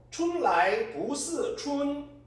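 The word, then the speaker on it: 春来不似春: 후디 우화차오 춘라이 부스 춘 요게 이제 중국 발음이고 오랑캐 땅에 꽃과 풀들이 덤성덤성 있으니 봄이 왔건만 봄 같지 않구나.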